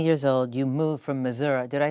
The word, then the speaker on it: Missouri: You moved from Missouri.